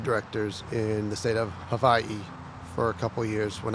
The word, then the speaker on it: Hawaii: a board of directors in the state of Havi for a couple years when I was stationed out there with the Navy is that how it it's properly pronounced Havi yes uh most people will say Hawaii yeah cuz that's just the generic uh I'll